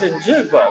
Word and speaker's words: Njigba: That was when we all learned how to pronounce Jackson Smith Njigba, right? No, it's Njigba.